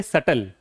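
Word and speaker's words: subtle: में जी रहे हैं अगला देखिए सटल क्या होगा सल बी क्या है साइलेंट है सटल there was अ सटल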